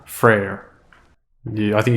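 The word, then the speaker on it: Freyr: freya's brother is called Freer not technically not exactly the same but uh but very similar freyer frer you I think you cut the syllable a little bit shorter and change the inflection that's how you pronounce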